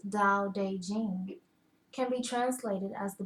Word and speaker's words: Tao Te Ching: Tao Te Ching, pronounced more or less Dow-Day-Jing, can be translated as